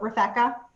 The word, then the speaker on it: Refecca: the very beginning so it's like rebecca but with an f so refecca so when you reach